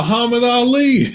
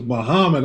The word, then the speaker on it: Muhammad: to pronounce his name I saw aamad and they said no it's Muhammad okay yeah so I